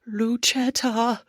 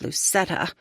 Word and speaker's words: Lucetta: attention, most of whom insist on pronouncing my name Luchetta instead of Lucetta.